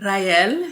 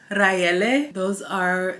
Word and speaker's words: Raele: My name is Rael, Rachel, Raele. That is what my family calls me. My American name is Riel. So if you can pronounce Rachel, Raele, Rael, you gotta roll the R.